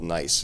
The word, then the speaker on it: Niis: One is a punk band out of LA called Nice. It's spelled Niis.